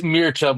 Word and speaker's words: Mircea: It's Mircea, but honestly, Mircea?